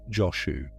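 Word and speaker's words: Jōshū: In the Japanese pronunciation that many in the west encounter first, he is called Joshu.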